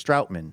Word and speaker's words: Stoutman: It's pronounced like out, not like ugh. So, it's Stoutman.